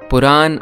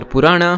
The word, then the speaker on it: Purana: Puran or Purana, however you want to pronounce it, literally means old or ancient stories.